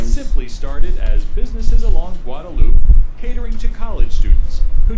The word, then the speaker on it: Guadalupe: The stretch of roadway known as the drag is the portion of Guadalupe Street that extends, strictly It's pronounced speaking, Guadalupe.